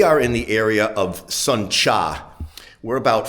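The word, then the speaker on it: Sơn Trà: And this is uh spelled s o n, separate word t, which in Vietnamese tr is pronounced cha, not tra.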